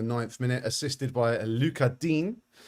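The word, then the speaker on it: Lucas Digne: minute assisted by a luchadine which is i believe how you pronounce his name not lucas dignay as some people might call it um jack harrison yellow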